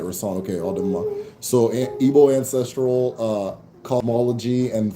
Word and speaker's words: Odinala: Okay, Odinala.